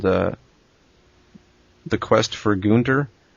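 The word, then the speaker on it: Günter: But for anybody who's listening and wants to try to play it, it's called The Quest for Gunter. It's actually Gunter is spelled G-U with an umlaut and N-T-E-R.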